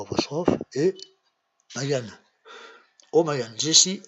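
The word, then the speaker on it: O'Magahn: oui, O apostrophe, voilà, plus loin, M-A-G-A-H-N, oui, O'Magan, voilà, O'Magan, voilà, comme ça, O'Magan, O'Magan, vous voyez, O'Magan, O'Magan, O'Magan, ça s'écrit comme ça.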